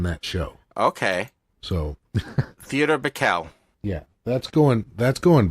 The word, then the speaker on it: Bikel: least especially on the Broadway series said Theodore Michael and I sure I did not pronounce that right I don't know if it's pickle or Michael it would be I've heard it pronounced t o Bikel TI o Bikel now stand corrected and go